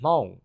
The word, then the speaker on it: Hmong: Michael Jordan Tao and I am Hong which is spelled Hmong people are basically a